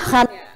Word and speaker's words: Khan: apa sebagai pemeran utam Salman Khan ya bacanya Khan ee Iya gimana nih